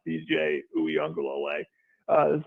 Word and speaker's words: Uiagalelei: Not going to lie to you, John, having to hear you pronounce Rook Orororo and Paul Teo here today and DJ Uiagalelei and Tyson Pumachan, I got to think before